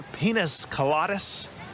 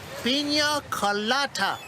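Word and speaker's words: piña colada: Carlos, could you bring me another pinas coladas? It's pronounced pina colada.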